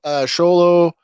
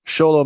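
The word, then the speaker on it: Xolo: Sholo Mariduena. Okay. That's his name. And hopefully I'm pronouncing that right, because it is spelled with an X.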